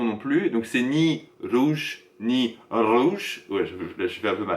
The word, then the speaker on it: rouge: Utilisez la prononciation anglaise du R en français, donc ça va donner rouge. Rouge. Voilà, c'est pas rouge, c'est rouge.